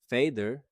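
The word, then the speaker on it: fæder: Fader uses the ash character we learned earlier, pronounced a, just like modern cat.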